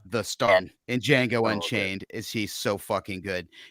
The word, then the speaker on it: Django: table that um ah the django um damn the d is silent um uh dave what